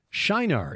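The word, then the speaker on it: Çınar: that's another subject anyway this location in southern turkey is Shar it's just spelled with a c with the circumflex below it C circumflex i n a r like how about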